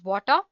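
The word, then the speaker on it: Watir: testing tools spell w80 ir and it is pronounced as water it's an open-source testing tool made up of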